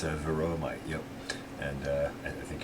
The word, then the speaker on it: Varroa: It's spelled B-A-R-R-O. Varroa mite.